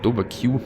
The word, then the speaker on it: DowaQ: him and his opponent the Swedish Undead dovak or dovak Q as some like to pronounce him he starts with Crypt